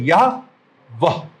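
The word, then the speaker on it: Yahweh: यहोवा। यहोवा के रूप में करने लगे, करने की गलती करी, जबकि इब्रानी जुबान जो है, जो अल्फाबेट है, उसमें जा उच्चारण है ही नहीं।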